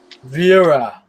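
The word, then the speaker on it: Wera: Vera. Like Schwarzenegger. Vera. Well, I am like 100% German, so I gotta pronounce my W.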